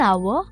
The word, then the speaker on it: hour: Yes, we also say an hour and an honest man. But why? Because even though these words begin with a consonant, the letter H is silent.